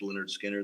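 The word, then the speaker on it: Lynyrd Skynyrd: albums home and I think he brought home pronounced Leonard Skinner the first album before Sweet Home Alabama hit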